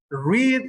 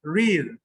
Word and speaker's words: read: Read in present. In present tense is read. In past tense is read, like the color.